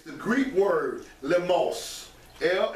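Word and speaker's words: λιμός: the definition of it it's the Greek word limos yeah it's pronounced I smell a MOS but it's pronunciation is l ee MOS the most it is through the idea of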